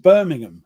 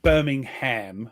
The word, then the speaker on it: Birmingham: Not Birmingham. It's not two syllables. Two separate. Birmingham. Birmingham. Yeah, we run it together, you see.